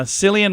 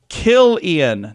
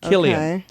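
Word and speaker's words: Cillian: it it's n cadas and celadas okay uh selan Murphy I'm saying that wrong but it's uh from Oppenheimer that's why our name the name is on the radar it's pronounced kilan not selan kilan uh we're not going to get to all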